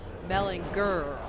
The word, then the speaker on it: Mellinger: It's Mellinger. It is with a hard G.